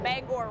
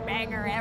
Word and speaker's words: Bangor: I'm actually kind of surprised at the amount of people who pronounce Bangor right, because a lot of the times we just hear banger all the time.